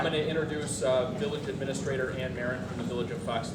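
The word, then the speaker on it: Anne Marrin: And I'm going to introduce Village Administrator Ann Marin from the Village of Fox Lake, who wishes to read a statement.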